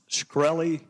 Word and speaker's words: Shkreli: South Carolina thank you Mr chairman is it pronounced shkreli yes sir see there you can answer some